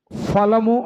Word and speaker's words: ఫలము: సీత ఫలము అంటాం. ఏంటి? సీత ఫలము అంటాం. తెలుగులో ఫా ఉండదు, రెండో ఫా, పా ఫ. అప్పుడు ఏమనాలంటే సీత ఫలము. ఫలము రెండు పెదవులు కలవాల.